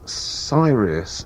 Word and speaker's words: Sirius: From the album Tr3s Lunas, that's Mike Oldfield and Sirius.